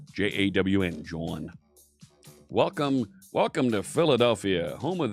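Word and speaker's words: jawn: Spell it with a J. J-A-W-N, John.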